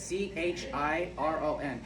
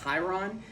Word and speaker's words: Chiron: Chiron, it's Chiron. Now, some people will pronounce it like Chiron, but yeah, which, I mean, if you want